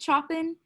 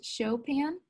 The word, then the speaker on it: Chopin: although this looks like he would say it Chopin, but it's actually pronounced Chopin.